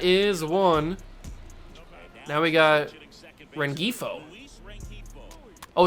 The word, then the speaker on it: Rengifo: one now we got rengifo oh it's red heifo there's a it's a soft G I thought I heard it differently the other time Luis Ren heathl is how you pronounce his name I will remember that